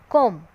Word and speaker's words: comb: So, you see it but don't say it in words like thumb, climb, numb, comb.